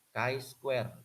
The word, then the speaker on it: chi square: Koefisien kontingensi sama dengan ini, cara bacanya adalah ini X ini chi square.